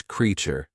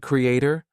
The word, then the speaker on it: creature: use the word but the pronunciation is creature do you get it not Creator suppose we say c r e a t e same great then te create creation there we are saying a butt for creature we are not saying Creator don't go by spellings